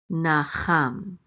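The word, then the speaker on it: נחם: And this is a nun with a kamatz, which says na, and then a chet with a kamatz, which says cha, and then this mem is going to close out the syllable cham, nacham.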